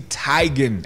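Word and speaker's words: Teigen: of living this lie it's tigon isn't it mom it's tagged with her mom in the background I'm tired of living this life yeah See Mom said like we also gonna be like okay yes ma'am yes ma'am so Chrissy Tigan everybody get it right get it right Chrissy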